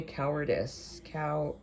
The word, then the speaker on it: cowardice: Oh, and pronunciation, because how to say cowardice. Is not ice.